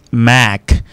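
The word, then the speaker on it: Mack: Pour celui écrit M A C K, ça se prononce make.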